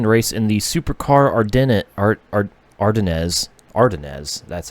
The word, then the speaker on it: Ardennes: And then from Thunderbolt, invitation to race in the Supercar Ardennes, that's how it's pronounced, Ardennes Club Day on the 10th of May.